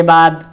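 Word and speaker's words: باء: क्रम संख्या है, अरबी अक्षर है, उसके बाद उसका उच्चारण है हिंदी में, और उसके बाद जो हिंदी में वर्ण इस्तेमाल होता है।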